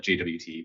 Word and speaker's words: JWT: lot of people who like still call it jwt but i'm just monosyllabic so that's what i'm doing with tomato tomato tomato waste so yeah yeah um but yeah if you if you get that jot sent down to the front end like it's